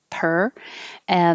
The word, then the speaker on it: purr: Purr, like the animal, the cat sound, purr, it sounds the same as PER, like cost per item. Purr. It's the sound, which really isn't any vowel at all. So it doesn't matter how it's spelled. It's the tongue curled back in the R position and making noise. Purr.